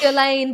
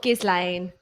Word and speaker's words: Ghislaine: Ghislaine Maxwell. Ooh. Oh my god! Ooh. It's pronounced Ghislaine, by the way. That's what I've learned, is that it's not Ghislaine, it's Ghislaine.